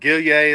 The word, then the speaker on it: Gillier: Hey, by the way, Paul Gillier, or Gilly as people will call him in the umpire world, Gillier is how you say his name, but was actually on